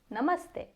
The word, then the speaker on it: namaste: So the a sound in the first syllable n is the same sound you get when you say the word up. So a na. Same thing for the second syllable. M up up a m stay. Now I do not know why most people want to say stay when they see this but it is e like the e in end.